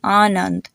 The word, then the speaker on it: Anand: Another example is the name Anand. So the first A has a sound as in car, and the second A has a sound like fun.